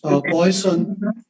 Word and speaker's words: Poisson: Of course, the French people will pronounce the name differently, but you know, we are not French, so we are just going to pronounce it as Poisson.